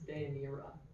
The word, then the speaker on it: Deianira: Deinaria. No, I'm sorry. Close. It's Deianira.